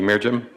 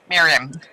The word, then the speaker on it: Miriam: comment please thank you mirim is it mirim or mirim Miriam Miriam okay yes thank you thank